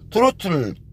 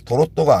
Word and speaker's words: 트로트: 지루박은 디스코로 추는 거고, 트로트는 트로트 음악, 트로트를 도로또라고 하는 사람도 있는데 도로또가 아닙니다. 트로트를 일본식 발음으로 도로또라고 그러는 겁니다.